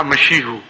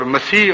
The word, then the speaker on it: مسیح: تو انہوں نے کہا مشیحو. اور مسیح اور مشیح یہ ایک ہی چیز کے دو تلفظ ہیں، اور بعد میں بھی